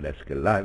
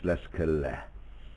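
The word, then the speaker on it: Leskelä: So let's call him Leskele if you want to, but it is Leskele.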